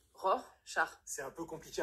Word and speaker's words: Rorschach: Non, vous avez dit Rorschach, ou je veux pas le savoir, mais on dit Rorschach.